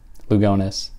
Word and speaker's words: Lugones: I'm a clown uh that's how people in in Spain would might pronounce her name or in other parts of the world but not how she herself would have pronounced her own name so and I'll do